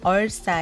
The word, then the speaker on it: Ursa: 오르사 에어 원인이기도 한데요 미국식 발음은 얼싸 에 가깝습니다 날이 갈수록 블록 사용